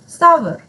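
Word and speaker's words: sour: The grapes are सावर। सोर भी कहते हैं कुछ लोग, लेकिन सावर प्रोनाउंसिएशन है, सावर।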